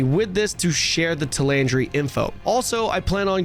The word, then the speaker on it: Talandre: what you could expect to see so it's pronounced tandry I've been pronouncing it completely wrong every time I've been calling it Tandra or something tandre got it with the new